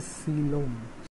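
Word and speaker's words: coelom: পড়া নিয়ে, সেটা হচ্ছে সিলোম। সিলোম, সিলোমের বানান কি, এই বানানটা মনে রাখো, সিলোম। কোয়েলম, কেউ আবার কোয়েল বইল না, কোয়েল মল্লিক না কিন্তু এখানে, সিলোম। এই সিল, এই উচ্চারণটা হচ্ছে সিল।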